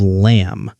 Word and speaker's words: lamb: Silent letters are letters we write but don't say, like the B at the end of lamb. We write L-A-M-B, but we say lamb. Or the K at the beginning of knife.